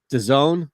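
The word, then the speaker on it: DAZN: what is that uh network d-a-z-n the zone is that how you pronounce a zone yeah whatever happened to that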